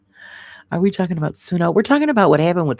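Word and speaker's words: Suno: Yeah, if Pro Sono you take responsibility for copyright I'm saying it wrong. It's sunno. Sorry guys.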